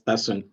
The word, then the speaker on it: Tasun: I'm going to ask Tasun to, Tasun, am I pronouncing your name properly? The Tasun? Yeah, it's Tasun.